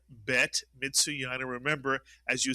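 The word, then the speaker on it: בית: But the bet is one of the three letters that is pronounced differently with or without a dagesh, the dot inside, and the bet, of course, has the dagesh. This is the letter bet. Take a dagesh out of the bet and you get the vet. It's really a bet that makes a v sound.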